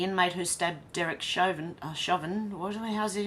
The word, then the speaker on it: Chauvin: who stabbed Derek Shin shovin what How's he how do you say his name shauvin I'd say 22 times